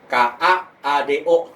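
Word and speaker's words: カード: Tapi kalau pada katakana misalnya KAADO. Nah, jadi kado. KA ke K habis itu strip baru do. Nah, itu bedanya ya hiragana dan katakana.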